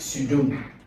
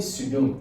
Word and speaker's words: pseudo: If you call this word now, you don't call this P as well. You call it pseudo. You call it pseudo.